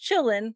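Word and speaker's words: Qilin: called the Chillin which the way it's spelled you would not think that's how it's pronounced because it starts with a q but you call it Chillin it's kind of like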